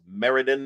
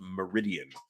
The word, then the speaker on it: Meriden: I am told it is Meriden and not Meridian, where I probably mispronounced it from Meriden many times.